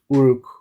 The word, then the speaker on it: Uruk: But I mentioned Uruk being because of the name Eric that we read is the is one pronunciation of the word Uruk, which is a city in um, ancient Mesopotamia.